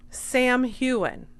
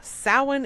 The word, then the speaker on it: Samhain: She doesn't say Samhain, you guys. Guess what she says? Sam Heughan. Sam Heughan is the actor who plays Jamie Fraser on Outlander. And somehow, Samhain is Sam Heughan to her.